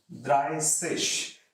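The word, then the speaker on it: dreißig: how do you say 30 30 will be dry fish so it's in case of 30 it is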